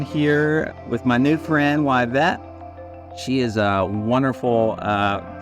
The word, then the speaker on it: Yvette: friends uh I'm here with my new friend wet she is a wonderful uh food Justice Advocate and doing the Lord's work out in Dallas um Reverend Dr wet so it's pronounced wet which I want to get into R Blair